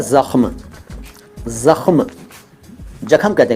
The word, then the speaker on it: ज़ख्म: पहला शब्द है ज़ख्म। ज़ख्म, जख्म कहते हैं कि लोग, जख्म, यार जख्म हो गया, बहुत गहरा जख्म हो गया।